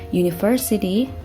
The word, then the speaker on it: university: Itu benar, akan tapi dalam bahasa Inggris, huruf U memiliki pronunciation atau pengucapan seperti huruf konsonan yaitu U. Oleh karena itu, kata sandangnya menggunakan A dan bukan N.